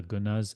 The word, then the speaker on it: guna: It's actually pronounced gun, and we're going to say gunas.